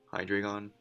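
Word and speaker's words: Hydreigon: going to switch he's switching the hydra gone hi dragon that's how he's pronounced that uh i'm gonna i know he's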